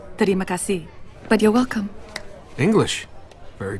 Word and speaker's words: terima kasih: Actually, it's pronounced terima kasih, but you're welcome.